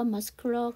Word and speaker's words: muscular: It's a muscular organ that helps you swallow, suck, and speak, but your tongue can also reveal telltale signs of health problems.